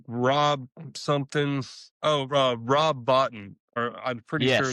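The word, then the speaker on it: Bottin: Oh, Rob Botton, or I'm pretty sure it's Yes, that's pronounced right. Botton.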